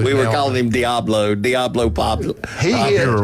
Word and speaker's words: Pavia: Pavia. He's good. 22. We were calling him Diablo Pavia. Diablo is really good. it's Diego. It was Pavia. Diablo. We were calling him Diablo Pavia.